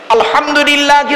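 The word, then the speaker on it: الحمد لله: আলহামদুলিল্লাহি রাব্বিল আলামিন। আলহামদু, হাই উঠি, হাই হাব্বাজ নয়, আলহামদুলিল্লাহি রাব্বিল আলামিন। আলহামদুলিল্লাহ, গলার ভেতর থেকে হ্যাঁ এটা উচ্চারণ করবেন দয়া করে।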